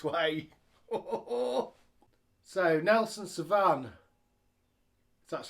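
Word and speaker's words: Nelson Sauvin: So, Nelson Savan, that's how you say it, at 60 minutes.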